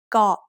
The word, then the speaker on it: เกาะ: เกาะ also follows the same tone rule we just learned. กอไก่ is a middle class initial consonant, and สระอ is a short vowel that gives us a dead syllable. So เกาะ is low tone.